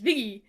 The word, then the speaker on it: Viggy: So Viggy is how my family pronounces Vicky, but fast and with a New York accent. So it came out more as Viggy with G's That's instead of a so cute.